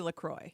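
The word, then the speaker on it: LaCroix: uh with lacroy laqua what did we decide I think it is actually lacroy lacroy but this isn't sponsored so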